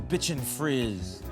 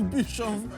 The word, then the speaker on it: bichon frise: Flynn, the bitchin' frizz. The bichon frizz. Is that not how you pronounce it? It's bichon.